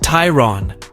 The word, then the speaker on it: Tayron: an entirely new model called the Tron pronounced Tyron and it will fulfill